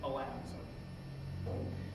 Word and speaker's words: Alan: So to non-New Yorkers, the name of the vice president, Chester Alan Arthur, apparently the Arthur family pronounced it Alan.